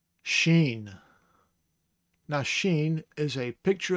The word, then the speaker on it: shin: Spelled in English as S-H-I-N, but that's not shin, it is sheen.